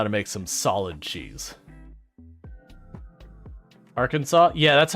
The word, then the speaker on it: Arkansas: doesn't make sense Arkansas's I don't think you pronounce a second s on it there's a lot of